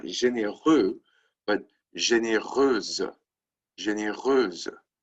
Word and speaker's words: généreuse: But again, the pronunciation doesn't change, right? Généreuse, feminine singular, généreuse, feminine plural. No change in pronunciation, only a change in the spelling.